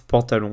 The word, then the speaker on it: pantalon: La première syllabe, c'était pas un an, c'était un A.